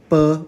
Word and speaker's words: 卜: In simplified, it is pronounced bo or bu. But in traditional, this character is bu, divination.